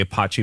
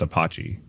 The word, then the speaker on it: Apache: Like under the hood, somebody could take Apache and build a web page. Is that how you actually pronounce it? You sure it's not Apache? Apache. Apache, sure.